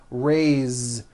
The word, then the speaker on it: raised: a bit unusual because even though it is spelled with an S it's pronounced with a voiced Z raised so we say I raised with a voiced Z